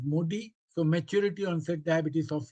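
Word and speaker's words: MODY: Modi that is actually the pronunciation is modi.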